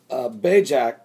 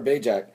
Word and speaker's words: Bajc: Sarah Bajak, I believe is how you pronounce her name, Sarah Bajak, the girlfriend of one